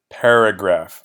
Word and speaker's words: paragraph: So the stress on that word comes in the beginning. Pa, the first syllable, paragraph. So paragraph. There are 3 syllables in the word. The stress is on that first syllable, pa, paragraph.